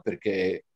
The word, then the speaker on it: perché: sono cinque io adoro quei libri dove perché riporta l'accento chiuso e cioè riporta l'accento aperto ma zio mi viene un sussulto allo stomaco quando vedo perché con l'accento aperta perché perché non si dice perché anche la pronuncia la